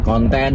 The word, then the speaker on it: konten: u dan n kemudian konten huruf k o n t e dan n Jadi bukan konten seperti dalam bahasa Inggris Heeh nah ini Tentunya